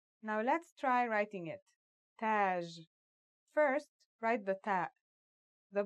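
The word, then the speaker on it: تاج: using some of these letters repeat after me Taj means crown that's that in the initial form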